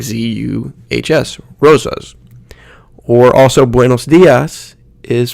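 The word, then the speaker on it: día: One of the common ones you'll see might be dia. Dia. You need to put that emphasis on that first syllable, dia.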